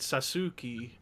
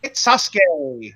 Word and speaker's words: Sasuke: It's the great Sasuke. Sasuke. Yous are silent in Japanese. Ladies and gentlemen, that's how you say it. Great Sasuke. Sasuke. Not Sasuke. Like not Sasuke.